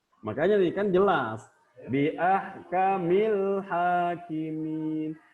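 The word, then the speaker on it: أَحْكَمِ الْحَاكِمِينَ: Bi ahkamil hakimin. Jadi haknya itu diibaratkan bulan, alif lam diibaratnya bintang. Jadi alif lamnya itu tetap terbaca, jelas.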